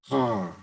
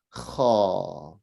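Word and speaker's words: ح: Okay, now, when you're pronouncing that, it sounds like, what am I trying to say? It sounds like the sound is being, you're trying to stop the sound from sounding out. I can't describe it well enough. So it's like you're stopping yourself, whereas you should be just relaxing and releasing the pronunciation.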